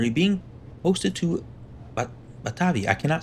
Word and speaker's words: Batavia: I I just got to pick one. Batavia. That's it. It From now on, Batavia, you'll never hear me say another pronunciation of that word. It is Batavia.